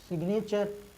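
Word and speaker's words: signature: गा का हम उच्चारण किए हैं, जी का उच्चारण हम किए हैं, क्यों किए, क्योंकि यहाँ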